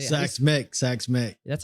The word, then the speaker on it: Xaks Mek: You asked me how to pronounce it. Xaks Mek is the correct pronunciation.